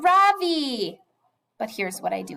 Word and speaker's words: Ravi: R-A-V-I. Mrs. Beam has been calling him Ravi, but when he introduced himself earlier, I'm pretty sure his name was Ravi, with the accent on the second syllable.